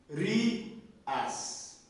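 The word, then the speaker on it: Οὐρίας: Quando nós temos ômicron e y juntos, como eu disse antes, ômicron e y juntos, o y tem som de U. E você vai pronunciar eles juntos. Urias.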